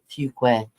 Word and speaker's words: Fuquay: She said, parents said, Cindy, it's pronounced Fuquay.